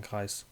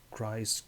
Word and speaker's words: Kreis: for a long time my name is uh at least in german kreis in english it's however you wanted to pronounce it christ greece whatever that's not my name and um if you